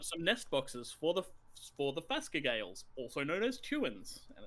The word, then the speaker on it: Phascogale: Yeah, it's a Phascogale. Or, it's also pronounced chewin.